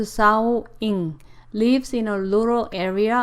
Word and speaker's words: Xiaoying: Wang Xiaoying, pronounced Xiaoying, lives in a rural area of China's Yunnan province.